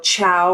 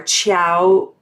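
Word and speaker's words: Ciao: any italians on here it's like c-i-a-o chow or chow uh marchetti and he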